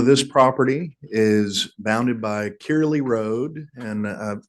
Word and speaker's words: Kirley: property is bounded by kirley Road and uh my understanding is that that's how it's pronounced I've heard curlyy as well but believe it's kirle and newent Avenue and